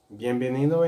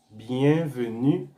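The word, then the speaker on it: byenveni: ¿Tú sabes cómo se dice bienvenido en creol? Tú no sabes. Sí, bienvenido es bienveni. Bienveni. Bienveni. Bienveni. Tú puedes decir también bienvenue. Bienvenue como es francés. Pero en creol es bienveni.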